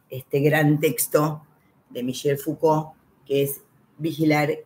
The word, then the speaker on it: Foucault: Lo primero que voy a decir es que cómo se pronuncia, Michel Foucault, Foucault, aunque se termine en ault, termina, se dice Foucault.